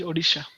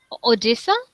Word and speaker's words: Odisha: how do you say it uh it is odisha odisa yeah odisa I think that's the first time